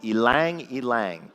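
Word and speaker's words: ylang ylang: And the other was something called elang elang. It's spelled y l a n g.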